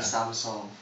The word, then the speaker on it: Samsung: I think it's the same thing that happened with Samsung which should be Samseong...